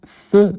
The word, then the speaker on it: faisons: faire nous faisons nous faisons il se prononce e il se prononce fe faisant d'accord je m'évalue